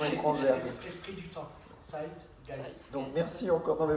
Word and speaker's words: Zeitgeist: Et juste en tant que germanophone, c'est Zeitgeist. Merci parce que je suis très nul pour les prononciations étrangères. Esprit du temps. Zeitgeist.